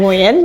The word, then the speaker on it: Nguyen: Because not many people can pronounce, so Nguyen, Nguyen, so